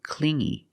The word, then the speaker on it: clingy: because he was too clingy you hear the sound only the nasal sound here no good not clingy